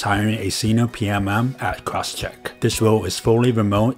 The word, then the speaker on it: Crosschq: at a company called crosscheck c-r-o-s-schq gets its pronounced cross check can you tell us